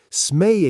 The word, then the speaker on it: Smee: Smee, spelled s m e e, pronounced smee.